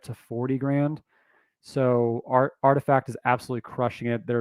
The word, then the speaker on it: RTFKT: collectible side right rtfkt which is pronounced artifact i i just covered